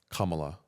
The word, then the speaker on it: Kamala: say her name and it's comma like a comma la la Kamala Kamala there you go